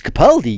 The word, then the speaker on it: Capaldi: wrong you know some someone said that uh it's Capaldi you know but uh I kind of think that's uh that's the way it's spelled you know but uh it is actually pronounced as cappuccino but uh it it